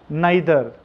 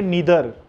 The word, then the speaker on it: neither: मैं आपको बता दूं इसके प्रोनाउंसिएशन दो है, आइदर, नाइदर. आइदर का प्रोनाउंसिएशन है इधर और नाइदर का प्रोनाउंसिएशन है नीदर.